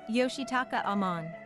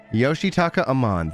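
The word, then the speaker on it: Yoshitaka Amano: and you're probably going to hear me yoshi yoshitaka amman yoshitaka amman thank you so much stations between produce all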